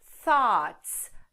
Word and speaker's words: thought: fica assim sax lotes e tem algumas letras silenciosas aqui por exemplo o gh e o então vai ficar assim lotes lote lembrando que o